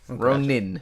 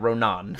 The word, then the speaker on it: Ronin: Ronin, not Ronan.